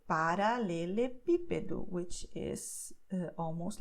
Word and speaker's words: paralelepípedo: though it's very long, you don't have to worry about which syllables should you stress. You just see the acento here, and you know that it's going to be stressed here on P. Paralelepípedo, okay?